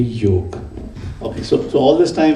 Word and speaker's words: yoga: come back to you there is no such thing as yoga it is just because of the English language they pronounce it as yoga it's only yoke okay so all this